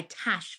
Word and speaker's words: Tash: She goes by Tash Flint. but it's written phonetically because of an American accent as Tosh, Tosh. But if I say Tosh, it's not Tosh, but it's because with